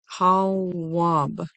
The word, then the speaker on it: Tawwab: It is, we've used it before, it is Hawab, and the transliteration is spelled T as in Tom, A, W, W, A, B as in boy. T, A, W, W, A, B. Tawwab. Tawwab.